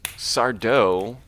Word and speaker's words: Sardau: Sardau, no mister, accent on the dough, appears, and he's like, hey, buy or leave.